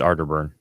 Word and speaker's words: Arterburn: bring don jeffries no it's ardor it's arter burn caterpillar no it's arterburn i say it out of her you're saying it wrong oh he's just being